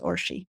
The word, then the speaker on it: Orshie: name my name yes my name is the Hungarian version of Ursula Ursula right yes and it's pronounced but for short it's orshi I just like I